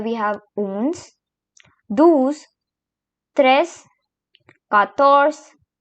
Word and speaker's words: quatorze: And here we have 14, which is called as quatorze. Quatorze. Now comes 15, which is pronounced as quinze.